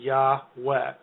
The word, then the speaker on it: Yahweh: And that is the only way that you can sort of account for an A vowel in the first syllable. It has to be Yahweh.